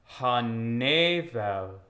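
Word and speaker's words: הנבל: We have the two kinds of E, right? We have in like the second word, we have ne, the closed E, and the open E, vel, right?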